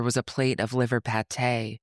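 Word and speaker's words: pâté: a plate of liver pate, which Mario pronounced liver patty.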